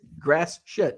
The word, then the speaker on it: Gratiot: I'm like, how in the hell do you pronounce this town? Gratiot? Gratiot. I'm like, what? Gratiot. I'm like, and she's like, yep, just like it sounds. Or just like I said, grass shit.